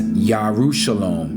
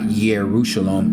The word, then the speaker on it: Yarushalom: That's why we pronounce Jerusalem as Yarushalom, not Yerushalom.